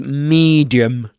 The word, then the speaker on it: medium: This medium, the first syllable, the vowel in the first syllable of medium rhymes with um see in for example the the sentence he could see for miles. So this is medium medium medium farmhouse farmhouse.